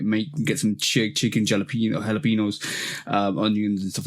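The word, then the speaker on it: jalapeño: it wrong too cuz she ain't saying yo at the end is jalapeno jalapeno oh she says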